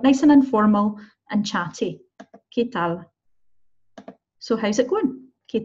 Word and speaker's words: ¿qué tal?: I am not pronouncing it qu, okay? QU in Spanish is not pronounced qu. So don't say qu here or qué. We say ¿qué tal? QU is a k sound, okay?